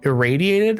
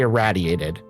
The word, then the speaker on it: irraddyated: So, there are technically two correct pronunciations on my name. You can say irradiated or you can say erradiated. Irradiated and eradiated are both correct pronunciations.